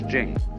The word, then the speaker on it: Jing: it would be pronounced Ching but it's Jing like a j and so Jing in